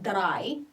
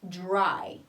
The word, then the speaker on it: dry: DR is J. We don't say dry, okay? So it's dry.